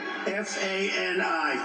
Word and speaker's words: Fani: He worked with Fani, even though it's spelled Fanny. F-A-N-I, Fani.